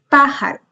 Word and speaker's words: pájaro: Por ejemplo, pájaro. Tiene el acento en la antepenúltima sílaba y por lo tanto se tilda.